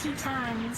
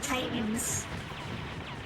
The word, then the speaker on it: Titans: But they pronounce Titans Tetons, so not everything is necessarily spot on. The English dub for Zeta Gundam actually fixes that. Oh yeah. Actually pronounces it Titans. But if you're watching in Japanese, they still say Tetons.